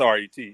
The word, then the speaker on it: R.E.T.: It's Red on the Beat, correct? It's R.E.T. It's actually my R.E.T. initials. Okay. It's actually my initials.